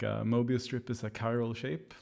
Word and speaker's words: Chiral: i saw someone asking how you pronounce the name of the synth and it's it's chiral unless that wasn't already